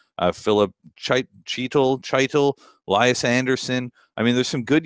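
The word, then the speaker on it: Chytil: Yeah, it is Heedle, by the way, so rhymes with the Beatles.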